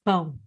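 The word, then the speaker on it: pão: is going and so the word for bread in portuguese is bone and this word is not the easiest to pronounce for all non-native speakers and i was reading a sentence with the word boom and i forgot to make the very necessary nasal sound so he starts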